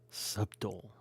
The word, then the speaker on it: subtle: I also am a reader, so I used to say subtle. The word is subtle. That's how it's spelled, S-U-B-T-L-E. Subtle. Egyptian.